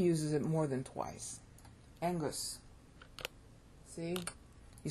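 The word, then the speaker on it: ἐγγύς: it more than twice Angus see you spell e g g u s but you pronounce the two G's together as an NG so you say Angus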